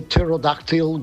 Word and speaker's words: pterodactyl: Uh, why can't you hear a pterodactyl go to the bathroom? Don't know. Because the P is silent.